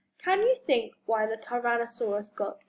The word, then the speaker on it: Tyrannosaurus: Can you think why the Tyrannosaurus got its name? How do you say it? Tyrannosaurus.